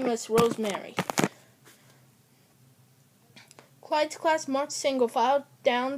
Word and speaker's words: Clyde: Clyde, what a nice name. It rhymes with slide.